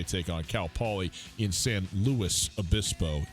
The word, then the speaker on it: San Luis Obispo: on Cal Poly in San Luis Obispo. You pronounce the S.